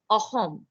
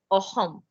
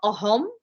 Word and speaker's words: Ahom: में असम कहते हैं, but actually the word is अहोम, okay, अहोम. ट्राई एंड pronounce this like you hear me say it. Try and pronounce it. Ahom. All right? Ahom. It's not ahom. It's not akhom. It's ahom. Ha.